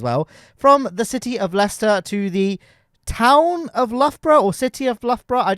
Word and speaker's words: Leicester: Uh uh I think a lot of Americans pronounce them as Lychester and dare I say it Luga Baruga. Um but no they're it they're pronounced Leicester and This is me cycling on my gravel bike.